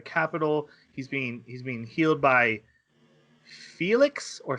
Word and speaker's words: Felix: But they pronounce his name in the dub as Felix. So. And sometimes in the sub they do too, and sometimes they pronounce it as Felis, or at least they wrote Felis in the subtitles.